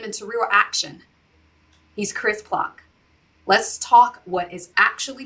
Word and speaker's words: Ploch: And Chris, can you verify, am I saying it right, Plouch, your last name? Uh Plouch.